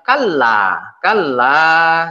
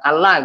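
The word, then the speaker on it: كلّا: Kalla ini ingat ya ini ada ya ada satu Alif Jadi dibacanya kalah gitulah Jangan dibaca ala gitu harus ada dua harakat jangan ini jangan ya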